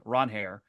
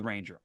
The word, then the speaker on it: Ranger: He said today to one of the reporters that his name is pronounced Ron Hair, but he said he's okay with Ranger.